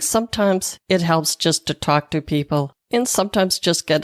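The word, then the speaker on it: Tawk.to: I've also got a new texting bot called Talk.to. And I'm saying that not because I have a Boston accent, which I do, but it's spelled T-A-W-K.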